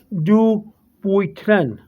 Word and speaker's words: Dupuytren: i'm saying well i it's really a french word uh they have a french pronunciation but in english and here in america in english is do boytren dubotrena's name of the